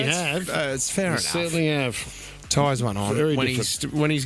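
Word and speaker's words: Tyzon: down all the time yeah but it's actually Ties on Ties on Ties on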